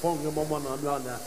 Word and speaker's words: Whangamomana: Whangamomana. Hey, Wonga for short up there in the Naki. Of course, the proper pronunciation is the WH is an F, but Darren, he's from lives up in Tahora actually.